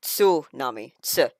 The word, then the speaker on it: tsunami: its own for example when we say tsunami like the big tidle wave thing it's actually tunami T it has a t before the S so it's tunami when you really slow